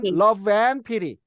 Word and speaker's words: love and pity: 자, 여러분 and 할 때 D 사운드는요 없어집니다. n하고 자음하고 들어가는 D는요 사라집니다. 따라서 이걸 어떻게 발음하냐면 love and pity입니다. love and pity. 예, 그렇게 읽으셔요. 이제는 love and pity.